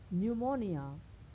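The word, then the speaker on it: pneumonia: यस के पहले आए, तो वहाँ पी को हम नहीं पढ़ते, यानी पी का उच्चारण नहीं होता है। जैसे साइकोलॉजी, न्यूमोनिया, शाम।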